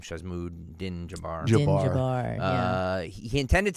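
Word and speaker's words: Shamsud-Din Jabbar: Shazmood Din Jabbar.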